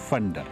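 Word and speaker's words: Phander: की तरफ प्लेन और अच्छा लोकल इसको प्रोनाउंस करते हैं फंडर, हम अमूमन यह लिखा हुआ जाता है फंडर।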